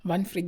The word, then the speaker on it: Wanfried: Vanfried yung pangalan. So W is V kasi ang pronunciation nila dito guys.